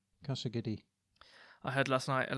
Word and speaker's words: Casa Guidi: Yeah, I don't know how it's pronounced. Casa Guidi windows. Casa Guidi. The second word is Guidi. Casa Guidi.